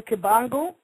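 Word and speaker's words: Kimbangu: the name again Simon kangu k i m b like boy a n like never gu and the brother Simeon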